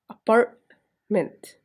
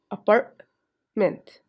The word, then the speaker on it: apartment: word's part together, then you have to show it with A, as apartment. Notice that it has two parts. Again, apartment.